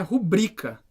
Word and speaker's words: rubrica: pode porque não dá é uma paroxítona né e o acento assim a sílaba tônica nubri então é rubrika a palavra República Não